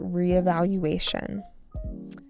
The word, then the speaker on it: re-evaluation: During this quiet weekend, Lon took time for re-evaluation. Reealation with a stress on the fifth syllable.